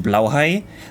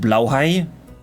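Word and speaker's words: Blåhaj: I know it's technically Swedish, but I think it's pronounced blowhai, which makes sense cuz that would also be what you would call it in German.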